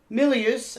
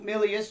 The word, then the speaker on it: Milius: it this was john millius i was pronouncing his name wrong milius john milius carl gottlieb who i've